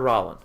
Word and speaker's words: Rowland: Roland or Rollin? It's spelled like Roland.